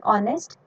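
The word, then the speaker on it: honest: लेकिन जब हम इनको प्रोनाउंस करते हैं तो ये साउंड किसकी देते हैं? ओ की। ओ की साउंड देते हैं, तो ओ क्या है?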